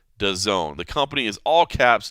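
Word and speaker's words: DAZN: that's how it's pronounced does own the company is all caps da ZN but if you want to say it right it is does own uh big deal I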